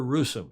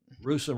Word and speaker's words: Russom: heather the feather heather russom she's terrific russian rhymes with gruesome that's how i remembered to pronounce her name she told me that